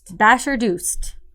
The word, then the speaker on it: Bashardost: Bashardost.